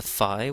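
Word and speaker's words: ϥ: The next is the fi, which is another letter F that appears in the Coptic alphabet in addition to the FA. So this is the fi. It's f as in fan.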